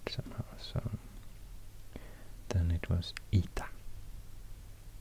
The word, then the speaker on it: eta: In Greece, also the H sound preceding what became the vowel disappeared somehow, so then it was ita, spelled with an H but pronounced just E.